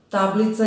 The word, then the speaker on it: tablica: Gde stoji akcenat u reči? Tablica. Tablica je mala tabla. Ta-bli-ca. Pomeramo sada akcenat od sloga do sloga da bismo videli gde zapravo stoji akcenat, odnosno koji slog je naglašen. Tablica, tablica, tablica, tablica. Tako je, naglašen je prvi slog.